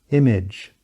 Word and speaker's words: image: Consequently, the A sound cannot compete with the I sound, which means it needs to be reduced and becomes schwa. Now listen as I compare the proper and incorrect pronunciation of this word. Image, image.